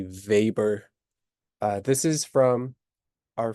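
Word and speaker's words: Weber: is web R but he's German so um it it's pronounced like a V vber uh this is from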